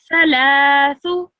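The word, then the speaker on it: ثلاثة: So this, how you pronounce that is if you say thick and thin, that first sound that you make, sound, is how you should pronounce this. So, thalathu.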